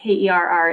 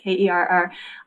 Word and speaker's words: Kerr: It's spelled Kerr. It sounds like care, but Kerr.